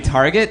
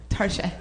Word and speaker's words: Target: i went to target you mean target no no tarshi since when does it make something more socially acceptable if you pronounce it in a french accent it's like dude where